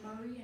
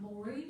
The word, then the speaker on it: Maury: happens to be why we know that it's Murray and not Maury. Get clear on that, because there's phonetic, the guy Maury, Abram Maury, I can't say it right now, who was in Franklin, his family pronounces it Maury. And a lot of you who are new pronounce it Maury. But he has phonetic documents that it was Murray.